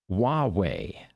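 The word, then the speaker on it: Huawei: joining us from YouTube he says H is pronounced hwei well thank you yeah that's right Hua W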